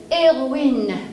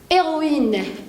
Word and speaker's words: héroïne: que vous avez remarqué j'ai mis la liaison et ce n'est pas par erreur justement parce que leur hache dans le mot héros hills et 1h muet et le match mu et autorise la liaison avec le mot précédent comme ici je vais